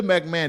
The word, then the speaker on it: McMahon: McMahon I I guess when you say McMahon I the ho um is silent but yeah Linda McMahon they trying to make